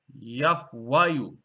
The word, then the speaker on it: Yahwayu: that which was before it, would have been pronounced Yahwayu.